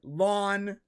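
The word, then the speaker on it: La'an: like Leon was great am I saying the name wrong again it's not Leon yeah it's long whatever Lawn Lawn so lady Khan was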